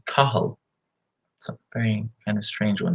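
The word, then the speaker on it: Cathal: on the screen hopefully my name is spelled CA th al but the pronunciation is actually Carl something kind of strange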